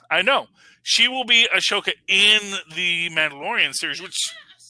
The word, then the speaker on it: Ahsoka: I always thought there's an H in there. Well, there's an H, but I think they... Oh, you don't pronounce it. It's a silent H.